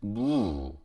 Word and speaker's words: 무: Next one, and radish, 무, yeah, 무, 그렇죠? One syllable, 무. Well, some people may pronounce it as 2 syllables, 무, but still the standard is the 무, 1 syllable, and it's really a